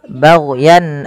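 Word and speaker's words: بغيا: Kemudian bagyan ayunazzilallah.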